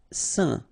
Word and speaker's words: saint: Saint. Okay, combination of A, I, N, phonetically will give you this un pronunciation, saint.